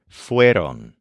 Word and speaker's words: fueron: Try to picture these pandas in the red light trying to wear latex gloves, and remember the stressed syllable wear, which is the stress of their conjugation, fueron.